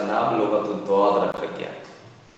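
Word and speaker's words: لغة الضاد: सिर्फ इसलिए Arabic language को लुगत-उद-दौत कहा जाता है। आप जानते हो दौत का प्रोनाउंसिएशन कैसे होता है, कहाँ से होता है?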